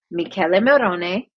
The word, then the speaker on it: Michele Morone: name is pronounced Michele Morone, No, I'm not doing and that.